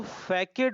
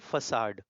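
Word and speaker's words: façade: 105 का पहला वर्ड, इसको फैकेड मत पढ़ना, इसको पढ़ते हैं फसाड। क्या पढ़ते हैं? फसाड, right.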